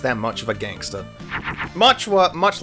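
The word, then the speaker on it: Mareeta: It's Machua or Matcha if you want to pronounce it properly, but I use the old translation cuz I'm just that much of a gangster. Mucha, much like Brighton, is a very, very simple unit.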